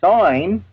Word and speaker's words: sign: You know, when you take the G out of sign and you put a bracket around it because you don't pronounce the G, well, that equals sin.